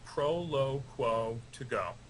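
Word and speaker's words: Proloquo2Go: hello welcome to the conversation first of all pronounce this for me sure it's called Prolo qu to go it's Latin for speak out loud I feel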